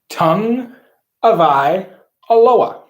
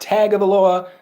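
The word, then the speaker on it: Tagovailoa: practice his sophomore year it's tua tung of i aloha not tag of the loa not the commissioner said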